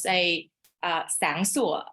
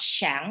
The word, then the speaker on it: sang sủa: For example, we pronounce sang sủa, not shang, right? With the S.